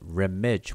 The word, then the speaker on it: remech: Okay, and just in case people may be wondering, you notice how I'm pronouncing it remech with an M, as in Mary, but there's no M glyph here.